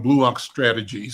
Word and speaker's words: Blue Ox Strategies: Yeah, I said the name wrong, Blue Ox Strategies. So that's the proper name for the company.